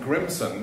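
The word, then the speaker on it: Grímsson: president of iceland ragnar grimson that's how i would say it as a swede i'm not sure that's correct that's a nice icelandic pronunciation but let's say president grimson in american vernacular will be here to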